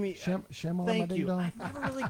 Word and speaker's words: Shyamalan: And help me with the pronunciation of this guy. M. Night, what's his name? Shyamalan.